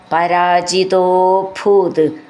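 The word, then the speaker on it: പരാജിതോഭൂത്: തവ തനയാത് പരാജിത അഭൂത് അത് ചേർത്ത് ചൊല്ലുമ്പോൾ പരാജിതോ ഭൂത് തോ എന്ന് നീട്ടിയിട്ട് ഭൂത് എന്ന് പറഞ്ഞാൽ മതി ഭൂ എന്നുള്ള അക്ഷരം നന്നായിട്ട് ഉറപ്പിച്ചു പറയണം ആത്മാനം യജതിമഹൈസ് ത്രിധാമന്നാരേ സത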